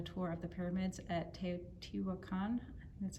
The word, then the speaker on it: Teotihuacan: i had a tour of the pyramids at teotihuacan that's how it's pronounced and our guy took us down into